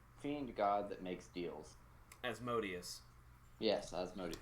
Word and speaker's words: Asmodeus: Asmodeus. Yes, Asmodeus. Like, if Jermong was Jermong's talking to great, Asmodeus- great, Hold on.